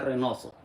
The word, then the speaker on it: Reynoso: Jose Renoso. There you go. And then you always find this logo on my on any of my social media. See this logo right here. If you find a Jose Renoso and you see this logo, that's me.